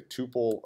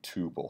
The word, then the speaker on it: tuple: is something that is referred to as a tuple a tough ol it's gonna be on however you want to pronounce it tomato tomahto that's you know it's up to you there but I'm a referred to it as a tubal so basically this is